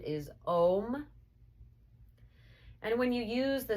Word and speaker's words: Om: And when you use the sound of Om, I'd like you to think of it as having 3 sounds, but actually 4 parts, 4 syllables. So the first sound, you begin with the open mouth, ah, and begin closing into the O. And finally, closed mouth, the And the 4th sound or syllable is actually the silent syllable.